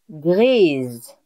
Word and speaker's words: grise: So, for gray and purple, you will see that the masculine and the feminine, the pronunciation is not the same.